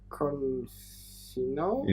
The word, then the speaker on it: Confino: Again, we have a second name that I don't really know how to pronounce really correctly, so give it a shot. No, give it a shot. Confino?